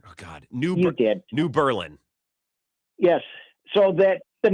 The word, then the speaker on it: New Berlin: New Berlin.